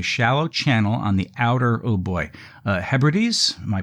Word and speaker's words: Hebrides: They were filmed in the Sound of Barra, that's Barra, which is a shallow channel on the outer, Hebrides. Am I pronouncing that correct? Yeah, Hebrides.